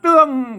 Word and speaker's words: เตือง: เอก นะ ครับ อ่าน อ่าน เตื้อง ก็ ได้ เสียง โท พิเศษ โทร เมือง นะ ครับ อ่าน ได้ 3 เสียง นะ ครับ กรณี นี้ อ่าน ว่า เตือง นะ ครับ เตือง อัน นี้